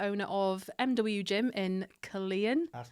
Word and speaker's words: Killeen: Also the owner of MW Gym in Killeen. That's correct. In Have I pronounced it right?